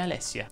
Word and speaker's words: Alessia: Lucrezia invece si pronuncia con la E aperta, come Alessia.